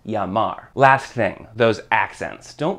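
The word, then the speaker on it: llamar: Whenever you see two L's next to each other, that makes the sound of a Y in English, basically. So the word spelled L-L-A-M-A-R is pronounced Yamar.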